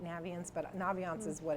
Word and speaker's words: Naviance: It's supposed to be like navigate, Naviance, but Naviance is what it's always been to me, and that's what it will continue to be.